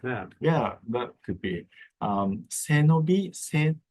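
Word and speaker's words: 背伸び: Senobi, Senobi is 3 syllables, but 2 words. Se is your spine, and nobi is stretch.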